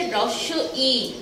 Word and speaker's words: হ্রস্ব ই: এটাকে আমরা অনেকে রস্যি টস্যি অনেক কিছু বলি। এটা শুদ্ধ উচ্চারণ হচ্ছে, সেটা আমরা মানে উচ্চারণটা ভুল ভাবে করি। তোমরা যেটা বলো সেটা ঠিক, কিন্তু উচ্চারণগত ভুল। সেজন্য এটাকে আমরা আজকে থেকে বলবো হ্রস্ব ই।